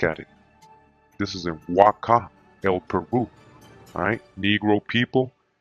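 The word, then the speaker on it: Waka': In Peru with the H, but it's pronounced Waca, W-A-K-A, just like the site.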